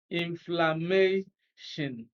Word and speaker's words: inflammation: Now, when you pronounce it, even with the rule of intuition, then you can perceive that stress is on may, inflammation.